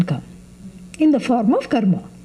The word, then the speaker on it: karma: Except when you have car trouble, it is called karma. That's how Americans pronounce the word. Actually, it is karma.